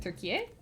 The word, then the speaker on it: Türkiye: In Turkey they call the country Türkiye, because they want it to sound distinctly different from turkey, the bird that you eat. So they pronounce it Türkiye.